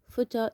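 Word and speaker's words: photo: This is فوتة, فوتة. Look at the first two letters, P and H. We pronounce the two letters F, فوتة.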